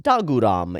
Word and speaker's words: Dogram: Also, Dogram is generally pronounced Daguram in the show itself.